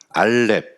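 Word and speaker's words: א: 읽어보면은 이건 알렙이라고 읽습니다. 가는 걸 했는데 알렙.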